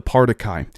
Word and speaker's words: Partiki: Again, they just said it here, the Partiki, and you pronounce it like party and guy.